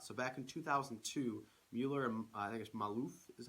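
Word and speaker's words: Maluf: that comes out so back in 2002 Muller Maalouf is how you pronounce it from Alif proposed the the general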